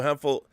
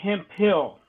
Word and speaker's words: Hempel: Hempel. Is it Hempel? Like Shirley Hempel from What's Happening? There's a reference. It's pronounced Hemp Hill.